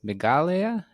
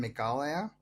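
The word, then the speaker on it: Meghalaya: difference between the word megala and the word Himalaya yeah uh I mean I think they should be pronounced the same way Himalaya and meala they're both derived from Sanskrit um so Himalaya means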